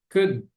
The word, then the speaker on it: could: A pronúncia é simplesmente could, como se fosse assim. Deixa. Good. A pronúncia dessa palavra aqui, C-O-U-L-D, lembram da primeira aula da pronúncia do alfabeto? C-O-U-L-D. Could. Could. Pronuncia-se mais ou menos desse jeitinho aqui.